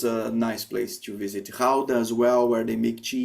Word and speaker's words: Gouda: Gouda as well, where they make cheese. So they have a street market with cheese. So the cheese Gouda that we say in Brazil, we pronounce Gouda in Dutch.